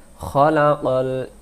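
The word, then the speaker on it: خَلَقَ: বলবো কুরআন আল্লামাল কুরআন আর রহমান আল্লামাল কুরআন খলাকাল ইনসান সান টান দেব। এই শব্দটা আমরা ভুল করি দুইটি অক্ষর, আমরা বলি খালাকাল, যদি আমরা খালাকাল পড়ি এটা কিন্তু কাফ না,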